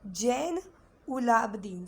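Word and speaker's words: Zainulabdin: Yes, this is Jain Ulabdin. So how you have to pronounce? You know Jainas we have, so Jain, Ulab and Deen.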